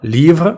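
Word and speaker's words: livres: с і маємо книги зауважу що літера S на кінці не читається тобто ліва однина ліва множина але ми пишемо цю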